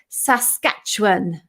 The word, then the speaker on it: Saskatchewan: hello from uh right i'm gonna try and pronounce this properly so this is saskatchewan i got that right michael saskatchewan in canada welcome you are definitely my first